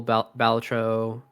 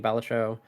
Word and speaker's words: Balatro: the online game went to Helldivers 2, mobile Balatro, indie game, I'd say achievement for an independent game, Balatro, or Balatro, depending on how you want to pronounce it.